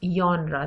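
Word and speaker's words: genre: Now what is जॉनरा? This might be अ new word for यू। इसकी spelling में जी आता है लेकिन इसको हम प्रोनाउंस जॉनरा करते हैं।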